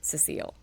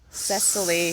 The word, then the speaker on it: Cecile: Oh fun fact yes my name is Cecile for everybody around Cecile mm-hmm it's not Cecil Cecily vessel ceci SIL I got called everything